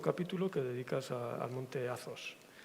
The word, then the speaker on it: Athos: Bueno, lo pronuncias muy bien, lo pronuncias en griego, Athos. Yo lo digo Monte Athos, porque aquí es como lo decimos, o sea, que como queráis.